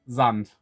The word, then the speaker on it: Sand: of the sand part sand is german for well sand it's pronounced zand here but you get the